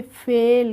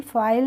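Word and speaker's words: fail: ए आई एल तो इसको कैसे पढ़ लेंगे फेल कैसे पढ़ लेंगे फेल फाइल नहीं पढ़ेंगे और जे ए आई एल को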